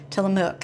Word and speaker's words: Tillamook: Tillamook. It rhymes with book, I think, for those who are around.